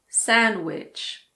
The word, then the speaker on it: sandwich: Sandwich.